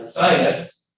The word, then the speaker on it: Ursinus: Private universities like Ursinus, that's how I'm going to pronounce it.